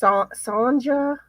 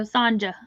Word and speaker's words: Sanja: with her name s Sanja there is that's it yeah okay she said Jay like jump so Sanja I miss pronounce things